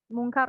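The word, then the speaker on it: منكر: Terus di bagian mungkar. Mungkar itu tadi dipanjangin karnya. Mungkar. Nah, nggak kayak gitu. Jadi itu kan nggak ada matnya ya.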